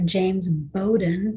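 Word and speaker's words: James Bowdoin: in this gentleman's name was he was governor james bowden that's how you pronounce that it's a weird looking name i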